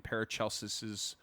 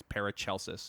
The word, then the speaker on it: Paracelsus: Yeah, and then we have yet another comparison that appears in Paracelsis's writings in a 16th Are we century sold book. on that pronunciation?